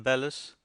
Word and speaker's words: bellows: know a man who always calls them Bellis which is I believe the professional pronunciation he also talks about